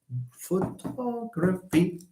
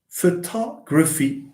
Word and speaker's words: photography: g and then F the rule says when you have these words ending in y in a suffix with Y stress falls on the anti penultimate syllable antien ultimate let's see